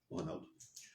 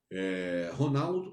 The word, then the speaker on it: Ronald: Ronaldo. Ronaldo ou Ronald, porque o D é mudo.